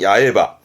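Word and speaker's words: 八重歯: 뭐냐면 여덟 개로 중복입니다 여덟 개로 중복이라 하면 겹친 건데 발음은 야에 하거든요 그래서 발음은 야외바 야바 그러니까 겹쳐서 삐져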